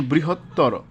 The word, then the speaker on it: বৃহত্তর: আছে দুই নম্বরে আছে তরতম প্রত্যয়ন্ত শব্দের অন্ত অ এর উচ্চারণ ও এর মত হবে যেমন বৃহত্তর তাহলে উচ্চারণটা কেমন হবে বৃহত্তর যত সুন্দর করে ভাঙ্গা যাবে তত উচ্চারণটা সুন্দর হবে বৃহত্তর এভাবে প্রিয়তম একইভাবে প্রিয়তম এখানে এই যে মধ্য